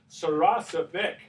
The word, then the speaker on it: Saracevic: Saracevic, right? That's the right pronunciation, right, Al?